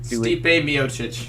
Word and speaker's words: Stipe Miocic: Stipe Miocic.